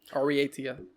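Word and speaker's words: Aureatia: Yeah, pronounce the E in the middle. Ariatia.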